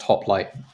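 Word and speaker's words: Hoplite: Chinese metal project with a Greek name which means hoplight or is pronounced hoplight in uh in English pronunciation um I forget how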